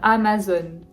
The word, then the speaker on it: Amazon: aller à disneyland disneyland 11 amazon a maze très ouverts les a à ma zone amazon 12 ikea y est